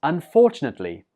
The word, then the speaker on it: unfortunately: 19 is unfortunately. Unfortunately. The stress goes on the 2nd syllable here.